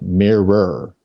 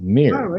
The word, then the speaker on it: mirror: and i mean like mirror but we don't say two syllables we just say it like one syllable mirror yeah yeah um there